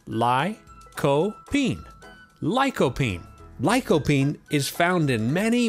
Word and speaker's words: lycopene: question my friends what is lycopene it is pronounced ly co bean lycopene lycopene is found in many many fruits and